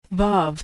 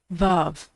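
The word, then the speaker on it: וו: Vav can be pronounced like the V in victory, the O in home, or the U in moon, which is usually transliterated as U.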